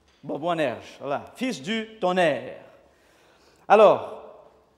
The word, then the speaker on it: Boanerges: J'ai un accent là sur Boanerges. Est-ce que c'est ça la prononciation? Il y a un accent sur le dernier E. Boanerges, voilà, fils du tonnerre.